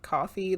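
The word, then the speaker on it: Ko-fi: that from where um it's spelled like Kofi but apparently you pronounce it like coffee this was like a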